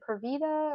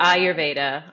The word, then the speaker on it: Ayurveda: think you said something about, but I may pronounce this incorrectly. I feel like you said Purvita or Purvita. Ayurveda, Ayurveda.